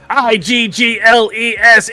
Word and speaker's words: Eagles: IGGLES Eagles. Eagles. Eagles? That's how Philadelphians pronounce it, correct.